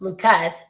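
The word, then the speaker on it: Lukes: I know his last name is spelled like Luke's, but it's Lucas.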